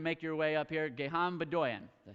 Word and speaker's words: Gegham Bdoyan: Gegham Bdoyan.